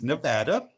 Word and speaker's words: Nevada: visit us out here it's Nevada that's how we pronounce it as opposed to Nevada I'm just saying if you come in say Nevada you might get an upcharge and I can't do anything about that that's not price dodging it's just like literal that's a consequence of pronouncing the name wrong and then secondly I'll